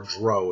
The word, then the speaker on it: drow: Underdark and that is the drought or grow if you want to pronounce it that way however you want to pass it it's drow I do believe and so that's aa